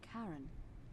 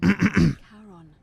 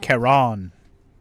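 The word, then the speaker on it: Charon: coin I see you described it only your pronunciation is a little off the name you heard wasn't Karen it was c h a r o n there you go as in Kon the Fairman of the Dead Kon Kon who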